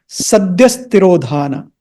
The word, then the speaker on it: sadhyastirodhana: ऐसे होता है, लेकिन when you pronounce them together as in the mantra, then this visarga, these 2 dots or the H, is not pronounced like a visarga or an H. It is pronounced with the S sound. So it becomes sadhyastirodhana.